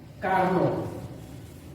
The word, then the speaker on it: Carnot: यहाँ पर स्पेलिंग लिखा है CARNOT और इसमें जो T है वो साइलेंट है। तो आपको इसको रीड कैसे करना है? आपको ऐसे रीड करना है कार्नो। ठीक है, कार्नो।